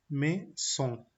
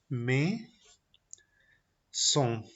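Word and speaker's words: maison: mi show está en español quiere decir casa me son repitan conmigo me son es muy común en el francés la forma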